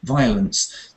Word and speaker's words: violence: you say so yes that word violence is interesting because um you don't want to stress the O there not so just VI violence that there's a very